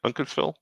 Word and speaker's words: Uncasville: Where Uncasville? Is that how you say it? Uncasville? Yes.